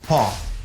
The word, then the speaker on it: paw: Something else, another part of the dog is paw. Paw. Paw. Letter W is silent. You just say paw.